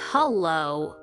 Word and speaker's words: hello: hello pronounce it as hello make sure the second part low is stressed hello second one hi